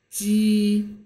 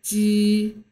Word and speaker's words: 鸡: And then pronounce 鸡, 鸡. Okay, so some of you think it might sound like ABJ, J in Indonesian. However, instead of being reading as J, this is actually harder.